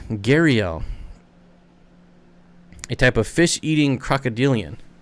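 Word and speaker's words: gharial: They are pronounced Gariel. Gariel.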